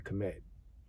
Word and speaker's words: Kemet: It's always been KMD and then some some people say pronounce it Kimid right I'm very hard